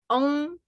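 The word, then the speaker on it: oob: And then the last one, which is on. It pronounced like on, kind of like that, right?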